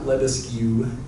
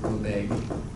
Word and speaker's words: Lebesgue: It's not Lebesgue, as far as I know. I always hear people pronounce it Lebesgue.